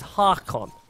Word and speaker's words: Harkon: His name is Harkon. That's how you're supposed to say his name.